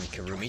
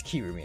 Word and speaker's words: Kirumi: Can Kurumi testify? Huh? What are you doing here, Kurumi? do you agree? It's Kirumi. I think I keep pronouncing it Kurumi. It's Kirumi.